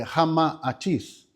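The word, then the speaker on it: Ramatís: Por isso, a pronúncia correta é Rama-Atis, porque é o nome de duas personagens desse poema hindu.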